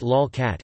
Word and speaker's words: lolcat: A lolcat, pronounced lolcat, is an image macro of one or more cats.